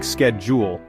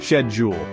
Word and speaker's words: schedule: editors in the US people pronounce schedule with a hard SK sound like sked Jewel but in the UK it's all about the softer HH sound shed Jewel it almost makes it